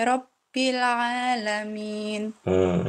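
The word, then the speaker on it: رَبِّ الْعَالَمِينَ: Rabbil'a. Nah, Ibu bacanya Rabbil'a. Harusnya bil'a. Rabbil alamin. Harusnya begitu.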